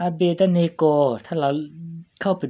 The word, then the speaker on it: Abednego: น่า จะ อ่าน ว่า อาเบด เนโก นะ แต่ ว่า เรา น่า จะ อ่าน ว่า อเบ เนโก นะ ฮะ มัน ง่าย ดี นะ พี่ น้อง โอเค อาเบด